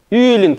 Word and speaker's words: Юлин: Почему мягко мы произносим звук «л»? Почему? Объясните мне просто. Хорошо, вы что знаете, что произносится. А почему? Потому что впереди одна из этих шести гласных, вот она, скобках. Вот эта гласная, она смягчает последующий звук «л».